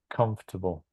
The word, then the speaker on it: comfortable: I think it's in the second. No, that's the mistake. Com. It's on the first syllable. Yeah, you can check in in Mhm. an online dictionary. Comfortable. Comfortable.